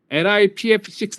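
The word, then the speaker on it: LiPF6: 보통 1층 썰 트로 lip f6 라고 읽어요 보통 lip f6 이걸 솔트 로 사용해서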